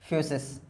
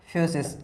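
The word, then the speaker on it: φύσις: फ्यूसिस। अरे इसका प्रोनाउंसिएशन क्या है ग्रीक भाषा में? फ्यूसिस, FUSIS। अभी जो मैंने चाओ करके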